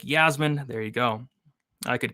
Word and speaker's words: Iasmin: It is Iasmin with an I. It's pronounced Yasmin.